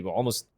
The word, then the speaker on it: Alamo: holds ground just basically almost recreating the Almo or Alamo I think it's Alamo that's how I pronounce it uh I'm not